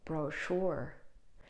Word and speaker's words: brochure: Brochure. Now, usually when the word has French origins, then we do not pronounce it as ch, but sh.